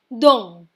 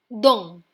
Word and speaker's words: dent: This word also ends in a consonant which is T. That's why we do not pronounce the T and end at EN. N will give a little sound from the nose.